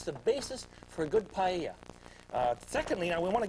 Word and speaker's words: paella: now it's called a paya the AE ll a double a's and spanish are pronounced as a y so we have an